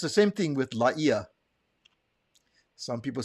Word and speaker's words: Laie: He did say Laia.